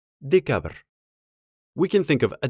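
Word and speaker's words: декабрь: in pronunciation for example the name of the month december in russian is decabr we can think of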